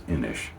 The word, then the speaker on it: Inis: shouldn't say that but there's an Irish uh company but I think it's only with one N and they pronounce themselves as Inish.